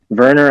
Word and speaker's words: Werner: And Werner, I think one of his uncles was named Werner with a W. And in Germany, you pronounce W's with a V.